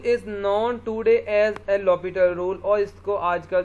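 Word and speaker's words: l'Hôpital: Rule भी कहते हैं, कुछ इसको एल हॉस्पिटल रूल कहते हैं, लेकिन इसका जो पढ़ने का जिसकी प्रोनाउंसिएशन है वो है एल लॉपिटल रूल।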